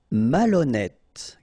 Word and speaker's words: malhonnête: décider, malhonnête. Okay, remember, H doesn't exist, so malhonnête. Don't insist on the final E. Malhonnête. And here you get E accent circonflexe, so you pronounce it like E.